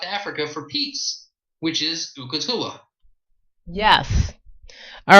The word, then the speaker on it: Ukatula: But the first song she's going to play is called Ukatula. Ukatula.